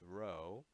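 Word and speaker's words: rho: it looks like a PE but it actually pronounced row a Greek letter for our so row and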